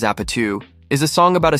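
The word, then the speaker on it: APT.: APT, pronounced as Apatu, is a song about a South Korean drinking game.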